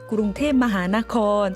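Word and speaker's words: กรุงเทพมหานคร: 사실 방콕은 영어식 발음이고요. 태국의 진짜 수도 이름은 구룽테마하나콘.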